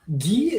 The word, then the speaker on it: gi: aaron like the karate oh you pronounce it as g-e-e really you know gi is one of the